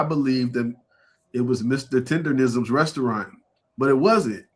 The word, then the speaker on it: Tendernism: That's how you say it, Tenderism? Tendernism. Yeah.